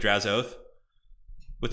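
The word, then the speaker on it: Drazhoath: if you care about drazzo with is pronounced like drazzo with a really soft H oh okay got it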